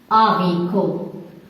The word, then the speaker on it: haricots: Le haricot, les haricots. Pas de liaison au pluriel.